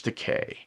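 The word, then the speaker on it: It Rhymes with Takei: That is, of course, George Decay.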